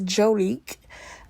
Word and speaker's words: Jonique: showed up um actually I've been saying her name wrong it's jonique um she is 30